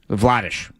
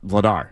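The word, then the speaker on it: Vladář: That's how that's how you say it in Czech. Okay. Vladish. Like this according to him anyway cuz again you you've probably heard these the players saying their pronunciation for the Olympic guide. His was Daniel Vladish, not Vladar as we've known him for now for seven years basically.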